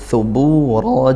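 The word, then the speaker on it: ثبورا: Thubura juga sama, di situ mad tabi'i bu. Hati-hati, thubura menggunakan huruf tha.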